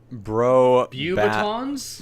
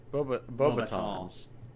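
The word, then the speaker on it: Beauxbatons: well, the first part is usually pronounced bow. Aha. Okay, Bo- that sounds Beaubatons. right. Beaubatons. Bobatons.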